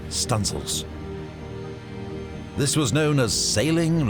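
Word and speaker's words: studding sail: the stanzel Booms to set studing sails pronounced stanil this was known as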